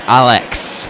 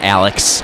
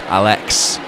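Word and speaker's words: Álex: It's actually pronounced Alex. An accent over the A, so not Alex. Alex.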